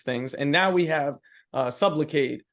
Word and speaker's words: Sublocade: And now we have Sublocade, which is sounds like the word supplicate, which means to beg, right.